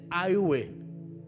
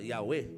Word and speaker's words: Yahweh: Eu quero acreditar, eu sinto no meu espírito como verdade que a pronúncia correta é Aiuê. Uns falam Yahweh, uns falam Jeová, como queira. Mas eu acredito que é Aiuê.